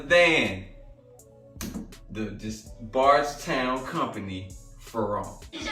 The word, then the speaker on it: Ferrand: collab with man wrong the d is silent the d like like